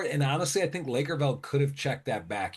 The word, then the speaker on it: Lakerveld: outs and then Lakers Lakerveld? Yep. Is that how you say his name, Lakerveld?